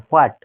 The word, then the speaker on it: what: WHAT, হোয়াট। তাহলে এখানের মধ্যে যে WH, এই এইচ এর উচ্চারণটা হবে না, তাহলে আমরা কি বলতে পারি? প্রোনাউন্সিয়েশন কিভাবে করব? হোয়াট।